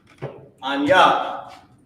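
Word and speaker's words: אני: So you know that the I is still there. It's just the Na that lost the I sound at the end.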